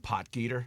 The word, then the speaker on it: Potgieter: Your guy, I'm going to let you pronounce his name. What, Potgieter?